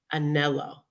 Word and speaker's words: Anello: So I'm going to talk about this beautiful person, Anello. Am I saying it right? That's right.